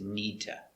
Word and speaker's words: need to: have two d sounds this d is a stop d the tongue goes up knee and then you make a complete d sound you release duh i need to watch